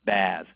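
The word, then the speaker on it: BaaS: b a a s a lot of times people make the last s sound like a z so it's baz if it's software as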